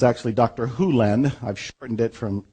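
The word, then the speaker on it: Hew Len: heads nodding in dr len's world and it's actually dr hulen i've shortened it from e to dr len but it's actually dr hulen if you want to say his name correctly in doctor hulen's world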